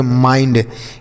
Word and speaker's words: mind: आई का उच्चारण यहाँ पर ना तो इसे मिंड पढ़ेंगे, ना तो माइंड पढ़ेंगे, ना तो मेंड पढ़ेंगे, कुछ नहीं पढ़ेंगे। इसे आपको माइंड पढ़ना है।